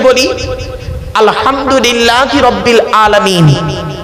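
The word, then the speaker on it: الحمد لله: আলহামদুলিল্লাহি রাব্বিল আলামিন। আলহামদুলিল্লাহি রাব্বিল আলামিন। এ গলার ভেতর থেকে উচ্চারণ করবেন।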